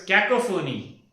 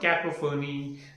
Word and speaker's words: cacophony: This poor sound which is bad for the ears. This is called as cacophony. No, my dear, this is not cacophony.